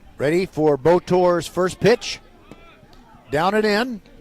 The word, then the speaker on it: Botor: So that pushes Pena over to second base, and now the number 9 hitter, Daryl Botor. Spelled like motor, but with a B.